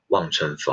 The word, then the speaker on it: 望春风: And the Chinese pronunciation that would be "Wang Chun Feng" (望春风).